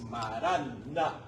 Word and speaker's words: marán: o mar Ay perdón no es mará es marana marana con la n final arameo marán marán es señor